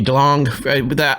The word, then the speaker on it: DeLonge: And then there was the whole part with Tom DeLonge, how do you say his last name? But with a G, I do the hard G. Yeah. Hard G DeLonge, all of that, him